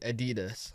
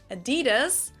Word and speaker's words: Adidas: Adidas. time, I didn't understand at all what they were referring to because they usually pronounce it Adidas, and in Germany we say Adidas.